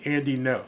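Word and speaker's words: Andy Ngo: The G is silent, so it's Andy No.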